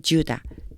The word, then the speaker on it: Judah: 베들레헴에 있는 한 남자 in Judah. 유다죠. 유다인데 영어 발음은 주다라고 나요.